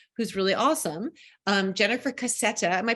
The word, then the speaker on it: Cassetta: a Community member who's really awesome um Jennifer cassetta am I pronouncing it right yep Jennifer cassetta who's written a book called The Art of